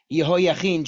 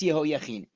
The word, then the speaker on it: Yehoiachin: So we are talking right now about Yehoiachin, or if you know the actor who played the bad guy in the first Gladiator, his name is Joaquin Phoenix. Yehoiachin, Joaquin, that's Yehoiachin.